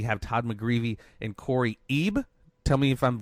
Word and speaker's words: Eib: Todd McGreevy and Corey EEB tell me if I'm pronouncing that wrong it's close it's pronounced as if it was spelled IBE I okay Cory I've